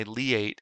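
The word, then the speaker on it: LIATE: worth mentioning there's a very special reason why lee eight is spelled l-i-a-t-e we don't want any any kind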